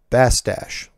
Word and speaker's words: Bastash: Should you read it on the show, my last name is pronounced Bastash, like mustache. Warm regards. Hang on. Steve Bastash.